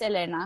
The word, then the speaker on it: Elena: Yeah, you pronounce it Elena, right? Yeah, some people say Elena. It's my middle name, so it's Elena.